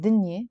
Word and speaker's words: دنيا: In Lebanese, we pronounce it dinye.